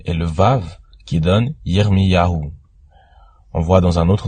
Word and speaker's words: Yirmiyahu: On voit aussi dans le nom de Jérémie le Yod, le He et le Vav qui donnent Yirmiyahu.